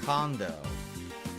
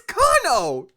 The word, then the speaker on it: Cono: Condo. So yeah. Wait! Huh? How'd you pronounce that name? Condo. Condo? There's no D in Cono! It's Cono!